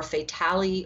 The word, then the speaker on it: Fatale: next month, called, I don't know how you pronounce this, F-A-T-A-L-E. I don't know if it's Fatal or Fatale or what.